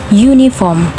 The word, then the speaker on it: uniform: Hai ini bacanya uniform uniform Nah dari tulisannya ini pakai uh tetapi dari pedari cara bacanya itu pakai y ya uniform Nah makanya ini termasuk kedalam konsonan karena bunyi awalnya menggunakan y jadinya kita pakai yang